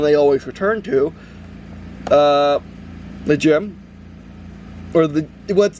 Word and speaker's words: GM: The gem, or what's the GM that everyone pronounces GIM, gem, for some reason, especially in the English dub and everything, and just everyone in general.